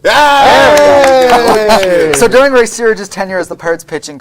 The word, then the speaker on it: Searage: because if you look at this, during Ray Sarge's tenure Sarge.